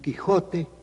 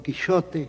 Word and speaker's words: Quixote: del ingenioso hidalgo Don Quixote, or Don Quixote, as I suppose Cervantes would pronounce it, de la Mancha.